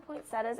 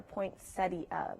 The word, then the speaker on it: poinsettia: by the way razmik they're pronounced two different ways you can say poinsettia or point study both pronounce you pronunciations are right all the red speckled